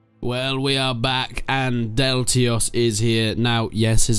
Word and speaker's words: Deltios: People pointed out that his name is not actually spelled Deltios, because it has an extra S in. But Deltios has been going through these troubles all his life. People making fun because he doesn't know how to pronounce his own name, but that is how he pronounces his name. It's a silent S.